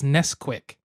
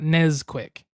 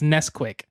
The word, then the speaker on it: Nesquik: and made it alcoholic I believe it's Nesquik not nez quick oh yeah I think it's Nesquik like Nestle Haley's entire world just rotated